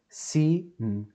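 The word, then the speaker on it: סין: So we have a samech, and we have a yud, I, si. And as you remember, this is the nun sofit. Sin, sin, sin, sin.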